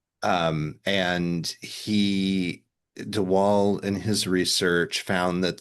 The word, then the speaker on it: de Waal: little bit about the research you found from de Waal about um, and I don't know I don't know if I'm pronouncing his name correctly. de Waal, I believe it is.